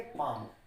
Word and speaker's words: palm: अब ये मैंने लिखा PALM, तो इसको हम पढ़ेंगे पाम।